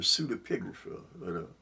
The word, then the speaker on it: pseudepigrapha: The pseudepigrapha. I'm going to say it that way because it seemed like it's easy to say it that way. But it's spelled P-S-E-U-D-A, pigrapha, P-I-G-R-A-P-H-A, the pseudepigrapha.